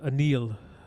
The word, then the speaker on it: Anil: Actually, last night watching the wake and so forth, it was known that he likes to go by the pronunciation of Anil.